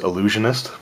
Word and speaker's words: illusionist: So I do know that it is pronounced illusionist, but it's just one of